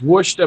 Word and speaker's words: Worcester: It's Worcester, Mass. Worcester. Welcome to Worcester. Worcester. So you're saying that's spelled the same way, Clint?